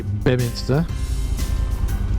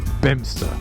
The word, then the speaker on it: Beaminster: I would say Beminster, and I think locals say Bemster.